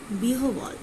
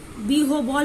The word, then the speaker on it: বিহ্বল: তাহলে দেখো এখানে কিন্তু উচ্চারণ কার মতো হচ্ছে, ডাব্লিউ মতো।